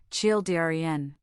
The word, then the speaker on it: children: The word children can be tricky. It's a 2-syllable word, children.